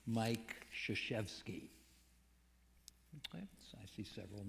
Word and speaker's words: Krzyzewski: Mike Krzyzewski, whose last name is spelled with 5 consecutive consonants. If you include Y as a consonant, K-R-Z-Y-Z, and he lets us off the hook by calling him Krzyzewski.